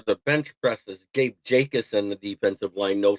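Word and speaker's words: Jacas: So far, it looks like the top combine guy for the bench press is Gabe Jacus on the defensive line. No surprise to me. Gabe Akus is how it's pronounced.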